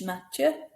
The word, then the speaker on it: Mathieu: Mathieu, that TH, Mathieu, T, in French, not th.